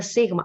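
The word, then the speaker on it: σίγμα: s this one so most people uh tr when we read that in greek they say z caro they call it like a zeta so like the z but it's not a z basically it's a pure su so in greek is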